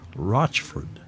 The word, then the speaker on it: Rochford: my next guest Rochford did I say it right you did Rochford very well pronounced and I'll tell you